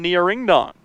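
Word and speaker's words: Ngiraindong: I really hope I'm pronouncing that right. N G I R A I N D O N G. That is the pronunciation we got from coach. That's what I've heard from the PA guy. That's what we're going with.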